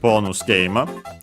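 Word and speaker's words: ボーナスゲーム: Again, most likely, let's say accent on the game itself, because bonus game will become a compound technically. Bonus game. So yeah, low, high, high, high, up until the ge, and then everything else low.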